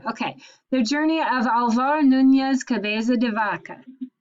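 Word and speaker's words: Núñez: no don't give up come on be brave nunez that's right you're just not trusting yourself you're smarter than you're giving yourself credit for okay the journey of alvaro nunez cabeza de vaca it's a long name we're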